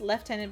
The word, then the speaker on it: Lieutenant: that any an army Lieutenant's PR pronounced left tenant but Naval General is pronounced the same as American way what really I didn't